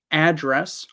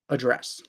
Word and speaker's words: address: So, the place where you live on a street can be either address or address, but the verb is always address.